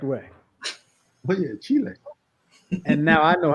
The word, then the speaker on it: Chile: he lived there only person I've ever heard pronounce Chile the correct way yeah Chile and now I know how to say it